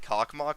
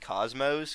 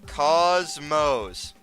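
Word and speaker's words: Космос: He's referencing a Geometry Dash level called Cockmock, but it's actually pronounced Cosmos because it's Russian. But everyone just look. It's look. Cosmos.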